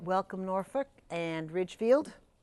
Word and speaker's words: Norfork: away all right welcome Norfork and Ridgefield Norfork right I want to put an L in there instead of an R I'm sorry if I